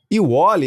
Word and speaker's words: Ewally: Como é que se pronuncia? Iwoli, exatamente.